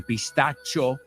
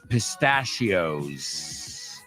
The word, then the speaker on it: pistachios: easy for you pistachios we pronounce it a little bit different you say pistacho we say pistachios then you've got almonds